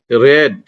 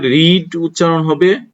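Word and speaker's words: read: আমি বই পড়েছিলাম, আই রেড A book. Present টেন্সে রিড উচ্চারণটা হবে রিড, আর পাস্ট টেন্সে উচ্চারণ হবে রেড, অর্থাৎ লাল উচ্চারণে যেটা হয় এটাই হবে এখানে।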